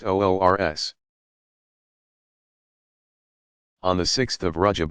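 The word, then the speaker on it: عرس: The occasions are sometimes referred to as the Saint's Wedding Day, URS, pronounced OORS.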